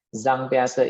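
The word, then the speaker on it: Jean Piaget: Ini yang nggak bisa baca pakai pijet gitu bahasa pembacanya ya. Zhang Piaze ini mengamati perilaku anaknya umur 0.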